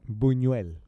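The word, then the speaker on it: Buñuel: U E L Bunuel. Bunu. Yeah. Thank you. I even put pronounce and it g I gave him a man.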